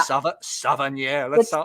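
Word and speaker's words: Savennières: Savennieres. You know, you say it just like it looks.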